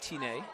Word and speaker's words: Seppi Tyne: Alex told me it's pronounced Tine, if we want to go properly. And I said, everyone calls him Tyne, no one will know what you're talking about.